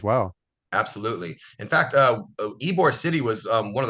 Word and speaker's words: Ybor: well history of all history wise Tampa and ebore City U it's pronounced ebore for those that come visit I know I got a lot of people that say wbore but it's pronounced ebore is a is an amazing maybe the best